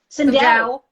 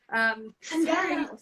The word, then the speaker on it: Sindel: Sindel. Sorry. Sindel.